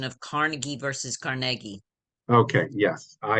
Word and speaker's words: Carnegie: the mistake so uh if you're in Pittsburgh it's Carnegie uh maybe in your other places is Carnegie so um but uh in New York it's Carnegie Hall um uh I've just gotten into that habit but yes Carnegie thank you during the 1970s